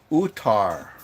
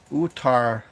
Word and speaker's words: Uttar: It's pronounced Uttar. Uttar Pradesh.